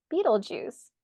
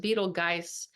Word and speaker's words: Betelgeuse: conjunct the fix star Beetle Juice not to be confused with the Beetlejuice movie but I wonder if that's where they got it from yeah Eno says he thinks it's pronounced beetle guys but I like Beetle